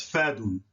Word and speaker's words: fadun: So the A in this case would be pronounced soft as in a, as in apple, a, as in apple, not as an opposite, because that's hard, as in apple.